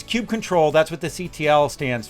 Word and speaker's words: kubectl: open source, critical topics like how do you pronounce, let's go with kubectl. Okay, so it's kubectl, that's what the CTL stands for, but clearly